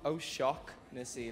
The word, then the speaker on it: Shaughnessy: I'll teach you. It's shocknessy. Oh, shocknessy, yeah.